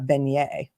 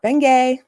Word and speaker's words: beignet: donut which is called a beignet not bengay a beignet actually i had